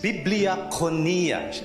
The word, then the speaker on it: biblia: a short break it's biblia well will we say it again biblia okay so the way to pronounce the greek is to pronounce every syllable okay so um it's not actually bibliophonia but biblia it's a